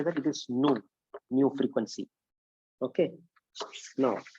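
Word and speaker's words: ν: इसको बोलते हैं nu बोलते हैं. NEW. ऐसा pronunciation. You should pronunciation like NEW nu. But how to say that? It is nu.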